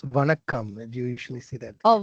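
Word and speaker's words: வணக்கம்: Is it Zankam? It's Vanakkam.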